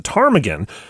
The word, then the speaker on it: ptarmigan: to call their town tarmagan but they either couldn't agree on the right way to spell the bird with the silent p in its name or they thought too